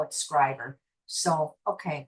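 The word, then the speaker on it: Schreiber: I always pronounce this place Shrivever, but they don't. They call it Scriber. So, okay, we'll go with the local pronunciation.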